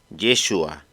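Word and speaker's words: ישוע: de la misma palabra en judea se pronunciaba yeshua en Galilea yeshu era un nombre muy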